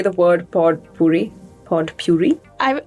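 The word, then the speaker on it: potpourri: the word pod Puri pod Puri I I know a lot of people kind of swallow the D when they say it yeah poy poy poy but I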